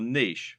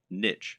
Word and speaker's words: niche: Or to use the correct internet business parlance, what is your niche, or niche as some people pronounce it?